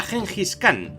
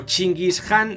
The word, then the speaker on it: Genghis Khan: Ese era Genghis Khan, o Chinggis Khan en la versión original, pero la pronunciación castellana mola más.